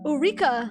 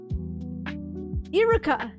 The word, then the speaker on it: Iruka: Eureka. What's his name? Eureka Sensei. I'm saying it wrong, right? Iruka, right?